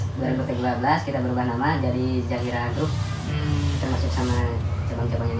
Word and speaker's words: ZHR: Kalau ZHR itu lebih bagusnya tuh apa, lebih tepatnya dibacanya apa tuh? ZHR. Ya, Dibaca. Zahira apa? Zahira. Oh, Zahira. Zahira.